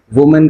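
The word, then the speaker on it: women: वुमन का भी वही सेम है, वुमेन, लेकिन उनके प्रोनाउंसिएशन में थोड़ा सा डिफरेंट आएगा, वुमन एंड विमेन।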